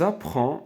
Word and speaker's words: apprend: voyage nous a prend nous apprend d à la fin ne se prononce pas car nous car le